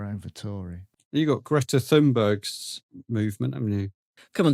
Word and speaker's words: Thunberg: You got Greta Thunberg's movement, haven't you? Come on, Dave, pronounce it properly.